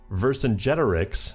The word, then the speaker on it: Vercingetorix: Vercingetorix, that's right, I learned how to pronounce it, sides with his former enemy Wilhelm II to fight against the 2 Sicilies.